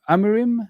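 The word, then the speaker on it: Amorim: I don't think Amaran Amarim, that's how you say his name.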